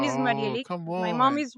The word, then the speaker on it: Marielix: my name is Oh, Marielix. come My mom on. is Rosemary, and my dad is Felix. But that pronunciation, that mixture between the I and the E, is very challenging to pronounce.